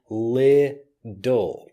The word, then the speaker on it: little: use a word like little. But when I'm teaching the pronunciation of this word, I'm using lidl. So the T becomes more of a D sound.